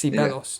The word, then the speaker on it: Ceballos: You pronounced the start of his name as C, so just Ceballos.